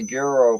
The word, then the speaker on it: gyro: It's a gyro place called Gyro's House. It's gyro. You Whatever. Don't pronounce it gyro. It's gyro.